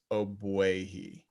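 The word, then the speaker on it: Ogbuehi: pronounce his name is oh boyhe there's no g print the g is silent so he was uh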